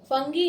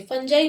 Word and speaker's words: fungi: आपको एक बात बताऊं, मोस्ट ऑफ द स्टूडेंट्स क्या बोलते हैं इसे फंगी। फंगी इसका प्रोनाउंसिएशन सही नहीं है। The right pronunciation is फंजाई। फंजाई हम बोलेंगे।